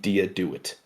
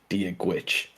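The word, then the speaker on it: Dia duit: And you're probably thinking to yourself, "Oh, that's pronounced dia do it." And it's not it's the first word is dia, but the second word is not pronounced with a G sound. It's or with a D sound. It's pronounced with a G sound for Gwitch.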